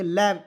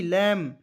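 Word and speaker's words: lamb: एल का ल लिखेंगे बी को साइलेंट करेंगे एम का म लिखेंगे दो कंसोनेंट के बीच में ए आएगा उसका उच्चारण अ के रूप में करेंगे लैम एल ए एम बी लैम लैम मीस होता है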